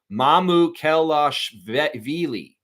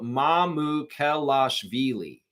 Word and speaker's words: Mamukelashvili: Sandro Mamukelashvili. Sandro Mamukelashvili.